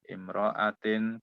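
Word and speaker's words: امرأةٍ: Al-haidu, air, ad-damu, al-khariju, min imro'atin, kulla syahrin. Bu Rani silakan. Al-haidu, haid, yaitu ad-damu, darah, al-khariju yang keluar, mini dari umro'atin, perempuan, kula setiap Imro'atin, ini dibacanya imro'atin Bu. Imro'atin.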